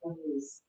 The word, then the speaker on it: Alice: Elise, A-L, it's spelled Alice, A-L, but it's pronounced Elise.